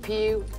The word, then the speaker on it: Pugh: Now, did I ever go through harassment in school with Pew. Kids can be cruel when they find a name. They are so cruel, you know. And it's spelled P-U-G-H.